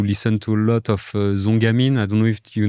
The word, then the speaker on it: Zongamin: And and uh and also at the at the time we used to listen to a lot of Zongamin.